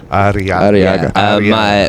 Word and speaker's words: Arriaga: Arriaga.